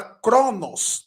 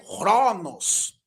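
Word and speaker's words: χρόνος: essa palavra aí tempo é a palavra Cronos na nossa pronúncia mas Alguns chamam de ronos né porque o k tem um som de R na pronúncia erasmiana e na moderna por exemplo mas na nossa pronúncia é o k com som de q mesmo ok por exemplo ali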